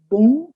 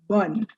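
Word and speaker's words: bonne: first word dear learners note it's not boom it's bun bun nui is night and bun is good good night but when you speak it there is no there is no break actually you don't say bond nui you just continue as if it were one word that is good night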